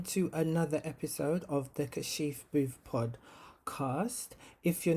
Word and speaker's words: Kashif: to be honest so my name is kashif or kashif those are the pronunciations of my name which i like um some people call me kasif that's not it some people call me car shift i do like kashif as well because that's what a lot of my muslim brothers and sisters call me because within their culture and religion that's how it is pronounced i've had some people